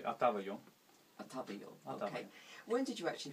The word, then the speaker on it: Отава: When did Ataba Yo, Am I pronouncing it correctly? How do you how would how would you pronounce it? I would say Atava.